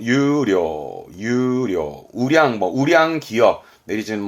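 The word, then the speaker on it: 優良: 발음은 유료, 유료, 우량, 우량 기업, 내지는 우량 도서처럼 뭔가 우수함을 말했던 유료, 우량입니다.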